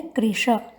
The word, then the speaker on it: कृश: उच्चारण करते समय ध्यान रखेंगे कृष्णम में मूर्धन्य श है, कृशा में तालव्य श है।